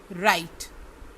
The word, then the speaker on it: write: WRITE, राइट, WRITE, राइट, इसमें W silent है।